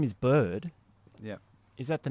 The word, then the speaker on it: Byrd: in that do you so your name is bird yeah is that the name you were born